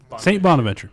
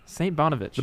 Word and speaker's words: St. Bonaventure: How do you pronounce that? St. Bonaventure. St. Bonaventure.